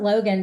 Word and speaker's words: Loguen: And I pronounce it Logan just because in some places I did see people spell his name log gan. So they assumed that that would be the name. So I figured that's how he pronounced it.